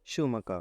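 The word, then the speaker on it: Schumacher: शूमकर। According to German pronunciation it इज शूमकर।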